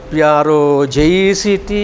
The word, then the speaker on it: project: Spelling is the same, but pronunciation different. Okay? Project is verb. Project is project. Stress is here.